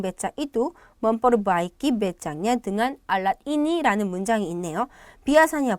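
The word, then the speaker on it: dengan: 등간 아니고 등안입니다. 등안. 네. 발음도 주의하시고 등안입니다.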